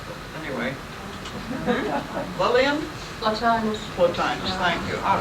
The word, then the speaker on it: Plotinus: Adita is very definite, I must say Plotinus, but anyway. Lillian? Plotinus.